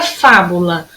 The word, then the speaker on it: fábula: Qual foi a que durou mais? A sílaba que durou mais foi o fá. Pessoal, se foi o fá, como é que eu classifico essa palavra? Ela é oxítona, proparoxítona ou paroxítona? Ela é proparoxítona.